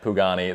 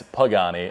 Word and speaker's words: Pagani: apparently i didn't notice it but i was pronouncing it pugani the whole night and it's pagani and i was with chris pagani which is